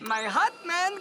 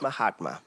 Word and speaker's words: Mahatma: - My hot man, Gandhi. - It's pronounced Mahatma, but I get the joke.